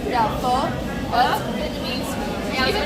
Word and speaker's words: pho: It's pronounced pho, right? Yeah, pho.